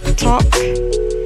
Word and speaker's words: talk: And another example is silent letters L, like talk. The L is a silent letter.